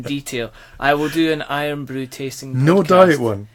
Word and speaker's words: IRN BRU: There's a traditional Scottish drink called Iron Brew, which is spelled IRN BRU.